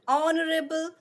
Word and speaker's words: honorable: an honest man an honorable man we do not say an hover and and honnest man and horrible man do we say no H is silent here okay we do not pronounce it it is just there